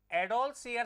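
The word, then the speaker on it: adolescere: Latin भाषा के एडोलसियर शब्द से हुई है। एडोलसियर ठीक है ना?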